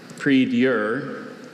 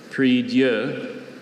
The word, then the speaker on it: prie-dieu: Repeat the word and its alternate pronunciations, please. I have prie-dieu, prie-dieu, and prie-dieu.